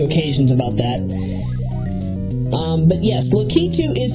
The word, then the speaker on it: Lakitu: T were both complaining a bit about the pronunciation of Lakitu. Some have, they both call Lakitu Lakitu, which is entirely wrong. I've had to correct them on a few occasions about that. But yes, Lakitu is its proper pronunciation.